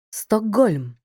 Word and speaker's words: Стокгольм: на уподібнення приголосних звуків Стокгольм глухий к перед наступним дзвінким приголосним вимовляється як Ґ баскетбол т одзвінчується і